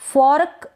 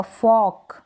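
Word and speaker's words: fork: बोलते हैं इंग्लिश में फर्क ना पढ़े इसको फर्क गलत हो जाएगा फॉक फॉक यानी यह जो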